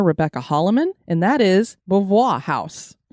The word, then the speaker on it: Beauvoir: I say it again it's got that fun little voi at the end and you do this